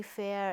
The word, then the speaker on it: fare: a i r it was the difference f-a-r-e fair is Charles you pay in the bus right